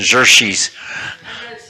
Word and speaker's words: Xerxes: How do you pronounce Xerxes? Xerxes? Jersey? Yeah, like a ZH. Xerxes.